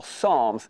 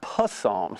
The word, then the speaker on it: psalms: psalms you get psalms which you call psalms not possums for some reason because a kid reading phonetically was seen it's like it's psalms so i like to